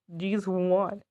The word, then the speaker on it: G'zOne: Oh, and it's pronounced G'zOne if you were curious.